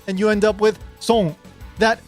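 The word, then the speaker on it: 孫: First of all, it's not sun. It's the S O is not pronounced S. It's so And the N is not pronounced like a typical N. It's more like an NG.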